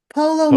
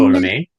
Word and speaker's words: Ptolemy: Polo May? Ptolemy. Okay. The P is silent.